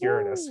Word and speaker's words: Uranus: mission to the planet's Uranus yes it is pronounced Uranus what is going on with Uranus that's my